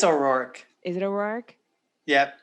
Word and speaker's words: O'Rourke: you say her last name i think it's o'rourke is it a roark yep okay so she